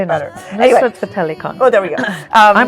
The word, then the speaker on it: Nusrat Fateh Ali Khan: Nusrat Fateh Ali Khan.